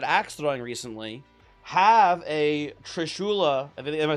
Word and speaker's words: trishula: Uh I had I had a customer at ax throwing recently have a trishula. Am I saying it right? Maybe I'm mixing it up. Is it a trishul? Trishula.